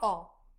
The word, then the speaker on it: ho: When pronouncing the different conjugations, remember that the letter H is always silent in Italian. Here is our verb chart. Let's go through it. avere, To have. io ho, I have.